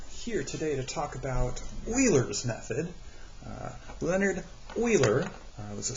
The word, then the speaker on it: Euler: All right, so I know it looks like Euler, but it is pronounced Euler.